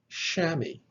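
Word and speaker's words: chamois: the omicron iota combination the omicron iota digraph is pronounced like the o i in the word shammy shammy now of course is actually a french word but it's been brought into the english language and here we have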